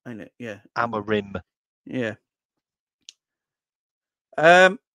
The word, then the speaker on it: Amorim: you say his name it's alarin it's not alarin he's the one that plays for Newcastle but he's got it's m at the end of his name say it's alar Rim ain't it yeah alar